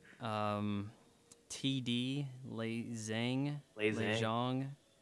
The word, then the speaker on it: Zhang: Um, TD Lei Zhang, Lei Lei Zhang. Zhang. I think that's actually pronounced John, but yeah.